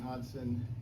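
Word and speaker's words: Hodgson: Thank you I'm hodson Yes the G is silent so don't try to pronounce the G everybody gets it wrong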